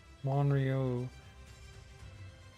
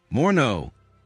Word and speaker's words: Morneau: Monrio. Finance Minister Monrio. Okay, that's... Was a Canadian finance minister. I might need to know how to say his name at some point. Morneau. Morneau. Morneau.